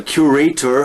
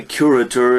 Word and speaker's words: curator: it's mainly money greed a curator as the british say curator as americans say is the person who